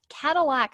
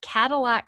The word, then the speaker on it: Kadilak: Cadillac Homes, and that's spelled Kadilak, Cadillac Homes in Burlington, Massachusetts, has almost 6,000 followers on their TikTok and over 130,000 likes on their videos.